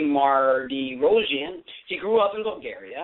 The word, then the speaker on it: Mardirossian: definitely tonight we have dr. I'm sagat pronounces correctly Mardirosian she grew up in